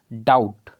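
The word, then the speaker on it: doubt: डाउट, यहाँ पर B silent हो गया।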